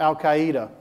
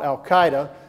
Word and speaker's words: Al-Qaeda: never heard of them we we didn't even pronounce their names right we were calling them Al-Qaeda well 7 years later we found out they're called Al-Qaeda and since we didn't finish the job keep